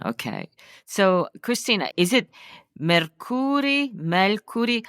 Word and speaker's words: Mercuri: So, Cristina, is it Mercuri? How do you say your last name, first of all? It's Mercuri. Mercuri. So the accent on the first syllable.